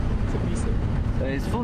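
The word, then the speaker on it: Tshepiso: Tebiso. So his full name is Tebiso, and that would be spelled? T-S-H-E-P-I-S-O. Say it again. T-S-H-E-P-I-S-O. T-S-H-E-P-I-S-O. Tebiso.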